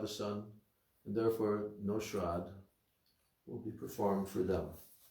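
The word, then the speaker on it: śrāddha: none to offer them shrad what devotees always mispronounce it because it's spelled almost the same they they they read it as shraddha it's not a shradd with a long a and double d what is that oblations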